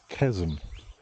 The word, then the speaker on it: chasm: I know some people have trouble with chasm. I don't know if it's chasm or but I think I can be fairly certain that the pronunciation is chasm.